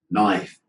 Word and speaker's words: knife: Is there a K? Here? No. Okay, the pronunciation. Knife.